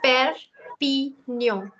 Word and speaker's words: Perpignan: This one is Perpignan. Perpignan. 3 syllables.